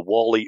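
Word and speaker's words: Warley: w-a-r-l-e-y i didn't hear i didn't hear an r in there when he i didn't either yeah i heard well i heard wally like as in wally and cl and the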